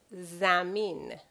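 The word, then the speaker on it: زمین: Earth is zamin. Zamin. You notice the way it's written is z, me, e, and n at the end. When I say n, of course, it's the equivalent of n in English.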